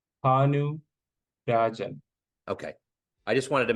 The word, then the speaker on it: Bhanu: last name how do you say it correctly hanu okay I just wanted to make sure I